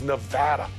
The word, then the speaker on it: Nevada: kind of like tomato and tomato it is Nevada Nevada need proof check out the new specialty